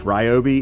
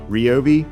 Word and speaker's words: Ryobi: Okay, so it's not actually pronounced Ryobi. It's actually pronounced Robi, but as long as you're one of our customers, you can say it whichever way you want.